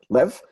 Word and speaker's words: Lev: It doesn't rhyme with Lev, and it's doesn't rhyme with save either, right? It's somewhere in between Lev and Lev, it's Lev.